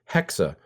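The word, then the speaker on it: Hexe: an opportunity to improve Hexa, which I learned is actually how it's pronounced happening on this because it's a German Salem witch trial thing going on.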